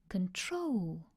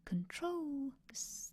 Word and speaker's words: control: So control. Can you hear that? Control. The stress is on the second syllable.